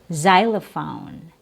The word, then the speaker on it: xylophone: It can also be pronounced with a Z sound, Z, like in xylophone and xenophobe.